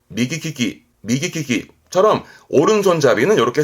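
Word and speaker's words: 右利き: 용하는 손이 오른 손이다 해서 오른손 잡이를 말합니다 발음은 미기 키키 미기 키키처럼 오른손 잡이는 요렇게 쓰게 되겠네요 그럼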